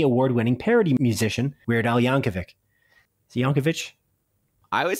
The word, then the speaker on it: Yankovic: right you're right um it is pronounced yankovic okay anyways the biopics